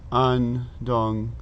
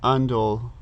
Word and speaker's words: Ondol: So in Korean, this is Sil 1, room temperature, and this is Andong. Oh, sorry, Andol, Ondol, O-N-D-O-L, Ondol, however you want to pronounce that.